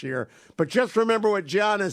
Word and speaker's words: Giannis: Can't even pronounce it right, Hugh. It's Giannis.